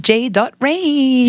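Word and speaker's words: J Rain: amazing artists and so without further Ado welcome J dot range you said it right on the first hey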